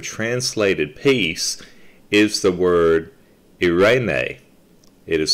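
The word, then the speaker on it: εἰρήνη: the greek word translated peace is the word irene it is spelled e-i-r-e-n-e pronounced irene it is the most often translated as peace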